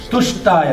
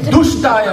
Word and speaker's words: Tushtaya: Tushtaya Namaha. And this guy doesn't know how to say the difference between ta and da. And then he said, Om Dushtaya Namaha.